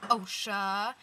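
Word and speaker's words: OCHSA: me fig or Analise and I go to OSHA and it's spelled OC C HS a not any other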